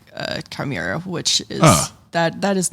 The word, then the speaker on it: Chimera: Chimera is... Oh, see, I'm pronouncing it wrong. Chimera. I mean, there's a couple of different ways to pronounce it.